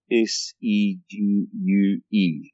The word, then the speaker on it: segue: I did a bad job of what they call a segue. S-E-G-U-E. But the Americans pronounce it segue.